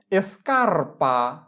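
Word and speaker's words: scarpa: তাহলে প্রথমে কি আছে এসকারপা এসকারপা এসকারপা মানে জুতা। তাহলে দেখো এস চি এর পরে আ আছে, তার মানে এস ও চি কে আলাদা আলাদা উচ্চারণ করতে হবে।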